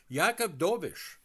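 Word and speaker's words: Jakub Dobeš: for years to come if everything goes good yakob doish and you're saying to yourself who's yakob doish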